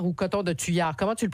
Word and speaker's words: Coton de Tuléar: Alors, coton de Tuléar ou coton de Tuyard, comment tu le prononces? Coton de Tuléar, ou en anglais, cotton Tuléar.